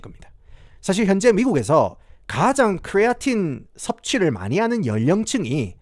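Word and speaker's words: creatine: 크리에이틴. 한국에서는 이제 크레아틴이라고 합니까? 지금 영상에서 제가 입에 크리에이틴이 붙어가지고 크레아틴, 크레에틴 뭐 이런 식으로 이제 발음하겠지만은 이게 크레아틴이라고 생각하시면 되겠습니다. 아시겠죠?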